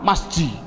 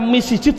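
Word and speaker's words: مسجد: Adapun depan ada tulisan mim sim jim dal, bacanya apa? Masji. Mengapa kok dibaca masji? Mbok dibaca misijid saja. Inilah perubahan depan, itu namanya sorof.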